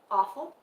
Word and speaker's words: offal: Is it O or off? It's O. Okay. That's why. No, I meant the pronunciation, awful or awful. Oh, I don't know. You'll have to tell us what that is. I hope you realize that. I've heard the term before, but I don't understand the context. You pronounced it right the first time. Okay, so it's off.